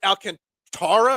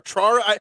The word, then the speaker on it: Alcantara: going up against Sandy Alcantara or Trara. I realize I'm saying his name wrong. I've been saying Alcantara this whole time. That's not how they said it all night last night on the broadcast.